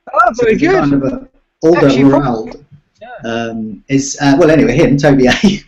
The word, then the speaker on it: Alderweireld: I was studying how Toby A of Spurs pronounces it. So it's Alderweireld like that. Oh, very good. Kind of Alderweireld.